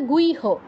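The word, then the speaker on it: গুহ্য: বনহি ঠিক তেমনি ভাবে গুইহ গুচ্ছ নয় বা গুহ নয় ইতিহাম শাস্ত্র মিদমুক্তমঘা পর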